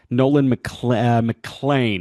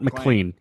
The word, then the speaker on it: Nolan McLean: Nolan Mlan, not Mlean, Nolan Mlan of the New York Mets, like Matt Mlan, but it's spelled man.